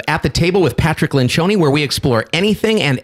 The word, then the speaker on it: Lencioni: Lencioni.